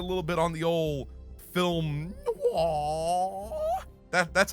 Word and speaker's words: film noir: And it's getting a little bit on the old film noir. That's how you pronounce that word, okay?